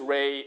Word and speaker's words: Rey: And so I started to use Rey only when I'm studying in the university. And then after that, it just stuck. Very simple, 1 syllable, 3 letter, Rey.